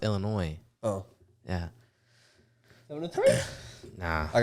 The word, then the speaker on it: Illinois: No, it's Illinois. It has Illinois, S, but it's pronounced Illinois.